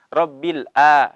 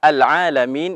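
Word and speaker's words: العالمين: Huruf ain ini seringkali sebagian kaum muslimin membacanya dengan huruf hamzah. Rabbil a. Ya, tidak, ya. Jadi di sini kita dapati kata al-alamin itu menggunakan huruf ain. Jadi harus dibedakan ketika kita mengucapkan hamzah dan ain. Karena kalau salah pengucapan juga salah maknanya.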